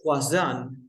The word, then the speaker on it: croissant: Yes, croissant is not croissant, no. Croissant. French. It's a French word, of course, but even Mm. in English, we pronounce like French people, of course. Like croissant.